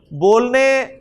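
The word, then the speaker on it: باء: उर्दू में भी अलिफ बोलते हैं, अरबी में भी इसे अलिफ बोलेंगे। बा उर्दू में आप इसे बे बोलते हैं, ठीक है ना।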